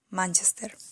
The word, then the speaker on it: Manchester: u manchester en español según las reglas del español manchester es una palabra esdrújula por lo tanto te verás en todas en la antepenúltima sílaba en la letra a manchester 100 años de soledad